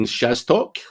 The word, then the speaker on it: Szastok: Szastok. That's the best it's ever been pronounced, am I right?